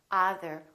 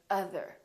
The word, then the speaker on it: other: Or other. We don't say other, we say other.